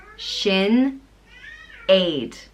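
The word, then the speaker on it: Sinéad: God is gracious and it's pronounced Shin Aid Sinead sorry I'm laughing because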